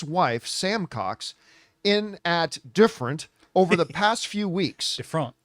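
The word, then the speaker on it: DFRNT: gym in Australia called it's called different but it's spelled like uh D dfr NT different yeah different is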